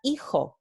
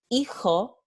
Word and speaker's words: hijo: Entonces, en el andaluz vamos a tener no hijo, sino hijo, hijo, right?